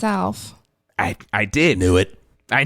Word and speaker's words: ALF: Alf. That is the correct pronunciation, but we never got it right. Alf. But Americans say Alf.